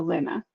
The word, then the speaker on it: Lina: I can pick what Lynn with a short A sound. I was right. So Lina.